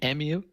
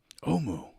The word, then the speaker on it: Omu: It's the city of I can't pronounce that thing. Emu? Omu? Omu.